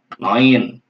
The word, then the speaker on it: neun: Neun, noin. Bacanya noin ya. Kalau EU, nah, kalau EU kita ganti dengan OI. Ya, jadi kalau EU dibacanya OI, noin.